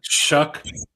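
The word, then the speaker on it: Shough: Is that how you say his name? Shug? Shuck. It's Shuck? the Shuckster.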